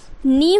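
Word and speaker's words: knee: आपको मेंशन नहीं करना उच्चारण जो है इसका आप के साइलेंट करोगे बट लिखने जब आप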